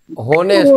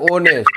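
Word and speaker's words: honest: এ বসবে এটা এন বসবে কেন জানো তো হনেস্ট কথাটা নয় উচ্চারণ হয় অনেস্ট কি হয় উচ্চারণ অনেস্ট ও এর মত উচ্চারণ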